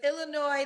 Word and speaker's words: Illinois: the time but it's Illinois the S is silent yes okay all right